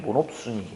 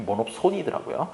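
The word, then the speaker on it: monopsony: 대학교에서 배울 때는 모놉순이 이렇게 배웠는데 모놉손이더라고요.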